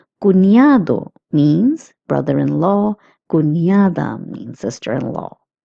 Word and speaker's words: cuñado: Notice that the N with the curly line is pronounced as nia, as I have also told you in previous classes. Cuñado means brother-in-law.